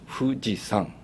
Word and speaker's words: Fujisan: okay perfect yes we that is in Japanese two two three we can pronounce it Fuji San fujisan fujisang and also Fuji